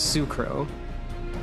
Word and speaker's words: S'crow: tribe they're from and the way you pronounce s apostrophe in this naming scheme is Sue so she is sucro but technically it is